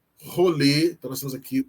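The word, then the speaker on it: חולה: Rolê. Rolê. Rolê. Então nós temos aqui o R, que precisa ser eh puxado na garganta para ser pronunciado.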